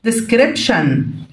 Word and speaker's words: description: وصف description، طبعا تي اي او ان هتدي نطق الايه لكنها شن كده، اوكي.